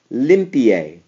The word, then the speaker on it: limpie: For example, limpie. The original stress is right here, over the I, the first I.